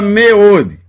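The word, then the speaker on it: מאד: A palavra meod, muito, é uma palavra que começa com um Shevá sonoro, está no início da palavra, é pronunciado, e é uma palavra de uma sílaba só, porque ela só tem uma vogal.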